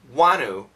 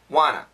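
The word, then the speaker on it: wanna: to but once again the n can cancel the T and we don't say wanu some people say wanu usually we say Wana Wana and that's why we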